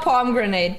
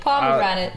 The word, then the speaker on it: pomegranate: Not palm grenade. Pomegranate. Pomegranate.